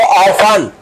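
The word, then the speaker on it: often: सो ऑफन my dear student इसको ऑफन पढ़ते हैं। इसमें टी क्या है? साइलेंट ऑफ माने होता है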